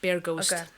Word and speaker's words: Bear Ghost: for me to pronounce oh yeah bear bear so it's bear animal bear ghost um and especially their